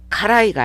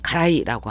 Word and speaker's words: 辛い: 그래서 카라이가 아니라 보통 일본인들은 가라이라고 합니다.